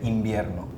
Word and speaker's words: invierno: You had a harder V sound and his was B. Yeah, like Invierno. Venezuela, Invierno, we don't say invierno. V, we say B.